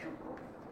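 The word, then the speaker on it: Tchouïkov: Alors, Avec un T, T-C-H. c'est à Tchoukov, Tchoukov. comme Tchaïkovski. Ça.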